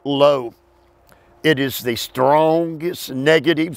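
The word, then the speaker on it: לא: That adverb, that negative, not, is spelled L-O, low.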